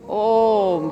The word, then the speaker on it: ओम: ओम का उच्चारण होता है ओ उम ओम तीन तरह से।